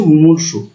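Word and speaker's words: মুমূর্ষু: বানান সঠিক বানান এবং এর উচ্চারণটা হচ্ছে মুমুর্স মুমূর্ষ মানে হচ্ছে একেবারে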